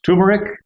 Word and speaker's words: turmeric: It's a silent R. It has an R there, but it's silent. Turmeric? It's usually pronounced turmeric.